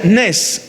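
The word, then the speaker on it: נס: La palabra en hebreo para hasta se pronuncia nes. E n e s. Nes.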